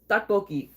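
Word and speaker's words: 떡볶이: Tteokbokki. I actually have some because your boy's obsessed. Sometimes it'll be spelled with a T, two T's at the beginning, but like T and D are kind of interchangeable.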